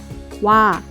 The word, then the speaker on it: 와: It's a compound vowel, but don't pronounce it in 2 individual sounds because the vowel is in 1 sound. 오, 아, 와, Next we have 왜,